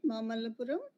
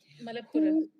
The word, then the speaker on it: Malappuram: Am I pronouncing it right? Mamallapuram? Malappuram.